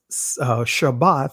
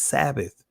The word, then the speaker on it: Shabbath: just a t why am I pronouncing it shabbath versus Sabbath Sabbath is a Greek transliteration of the word shabbath and as you see